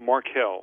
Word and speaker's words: Markell: Governor Jack, is it Markell? How do you pronounce the governor's name there in Delaware? Markell.